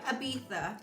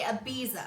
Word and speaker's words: Ibiza: Ibiza. They say Ibiza, Ibiza, yes. and we say Ibiza.